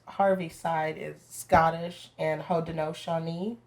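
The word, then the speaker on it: Haudenosaunee: side is scottish and ho dinoshani which is how you say iroquois but in the actual dialect so my grandfather is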